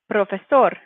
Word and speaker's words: profesor: Then for 17, we have profesor. Profesor. This word is just a little bit of an exception, the fact that we're stressing the O at the end and not the A.